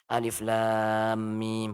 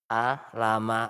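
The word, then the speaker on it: الم: Bukan hurufnya disambung dikasih harakat tidak. Tetapi dipotong-potong alif lam mim bukan a lama atau ka ha ya asho gitu.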